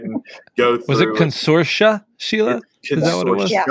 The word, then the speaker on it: Consortia: Was it Consortia, Sheila?